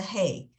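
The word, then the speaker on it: ה: is the hay I the best way to explain how to pronounce use a hay is it's like if you have a Kleenex in front of you and you go that's what a hey sound is uh so this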